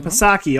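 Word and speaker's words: Psaki: of like circles back Jan pasaki all all again returns you don't deserve to have a silent P you don't deserve it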